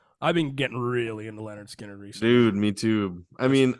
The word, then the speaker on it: Lynyrd Skynyrd: fact that they had played that first album pronounced Leonard Skinner they had played that album for like two